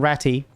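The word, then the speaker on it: Rattay: I live I'm hry I live in ratty rate yes the AG is silent mechanic yeah later on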